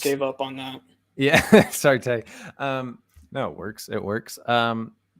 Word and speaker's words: Sartre: And so that's interesting because Jean-Paul, I never know if it's Sartre or Sartre. I believe it's pronounced Sartre, yeah.